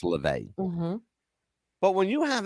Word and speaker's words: LaVey: And that's just, when you have the head of the Satanic Church, Anton LaVey, the announcer pronounced it wrong. He said Levy, it's LaVey.